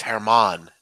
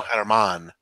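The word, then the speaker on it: Germán: kids pitch for the Yankees give me the pronunciation the G in Spanish names just silent it's Herman Domingo Herman Herman there we go so go Domingo here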